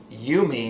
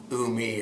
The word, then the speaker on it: ūmi: how to pronounce it so you might wonder what's that little line doing over the you in the name and uh if you think back to your third grade english class you might remember something called a macron that little line is called a macron and what it means is a long vowel sound so it's you me not umi or um and so it helps